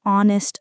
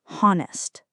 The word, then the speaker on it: honest: It's a really honest opinion, not honest.